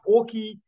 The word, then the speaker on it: Auke: from this particular book that's in glass and orky um slaughtercraft um firstly good morning to both of you and am I pronouncing your names correctly perfectly thank you good